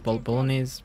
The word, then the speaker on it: bolognese: And they say Roscoe had the best pronunciation for bolognese. Bolognese. Bologna? No way. No, bolognese. Yeah, and then Bolognese. And then okay. Bologna is a city. Okay, because that's where it comes from.